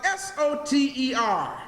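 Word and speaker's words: Soter: say so tell your anyone write it down it's spelled s o ter so ter brothers and sisters means Savior Oh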